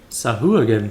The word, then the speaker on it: Sahuagin: Sah again. I did not anticipate this. Back to the ship. Sahu again. Thank you for the pronunciation lesson.